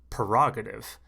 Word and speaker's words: prerogative: they use this word prerogative and because of my pronunciation prerogative i always thought it was p-e-r but it turns out the word is p-r-e now it might be